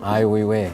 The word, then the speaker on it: Ai Weiwei: this guy named, I don't know how to pronounce it. It was Sure. like Wee, and he did. Ai Weiwei.